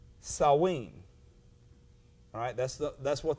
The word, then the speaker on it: Samhain: in our in our letters but it is pronounced saw ween alright that's the that's what the name of